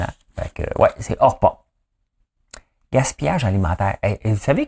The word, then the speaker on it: Orpah: Son vrai nom, c'est Orpah. O-R-P-A-H.